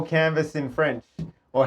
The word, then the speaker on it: Canva: But it it had the silent S on it, but we didn't know that.